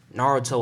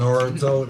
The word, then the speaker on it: Naruto: Naruto, that's how you say it. Naruto. I always thought it was Naruto.